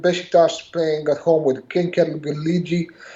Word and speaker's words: Gençlerbirliği: And Beşiktaş playing at home with Gençlerbirliği. Gençlerbirliği. I can't pronounce this name. Yeah, it's Gençlerbirliği.